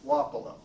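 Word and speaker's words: Wapello: one mischievous i think i believe the correct pronunciation of that county to the west to here is wapolo and as an outsider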